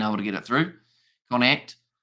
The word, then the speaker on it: Connacht: Not Connacht. Connacht.